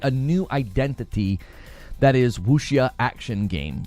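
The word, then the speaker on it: wuxia: They said maybe it could create a new identity that is Wooia action game. Like, it's spelled Wukia, but I'm I think you're supposed to say it Wooia.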